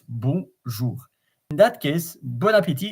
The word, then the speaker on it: bon appétit: Bon appétit. So you don't pronounce the N, the S, the T at the end.